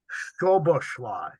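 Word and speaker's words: Szoboszlai: name hungarian's a uh the name is pronounced Dominic stoveshly uh Boba slide uh it's actually it's actually reverse polish so if s s z is s whereas my last name starts with s z and says SZ in Hungarian is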